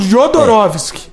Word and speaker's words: Jodorowsky: estão confundindo com o Jodorowsky. Esse é outro É diretor. porque não é Joe, é Ro, né? Né? Vocês pronunciam Jodorowsky.